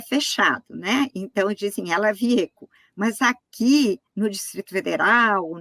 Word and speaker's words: Wiecko: que foram abertos eh ela viec eu tô pronunciando certo o seu nome é viec vi tá certíssimo tá é tanto fác eh